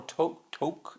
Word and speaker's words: toque: Pronunciation for a toque is actually toque.